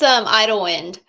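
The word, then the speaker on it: Idyllwind: which is it you better say the word because I don't want to mispronounce it. So it's Idlewind. Yep. Idlewind That by Miranda that's Lambert.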